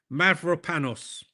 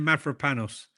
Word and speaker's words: Mavropanos: I've uh I'm not the best at pronouncing Mav- There you go. Let's get it right. Konstantinos Mavropanos. Okay? Is that better for you? Konstantinos Mavropanos.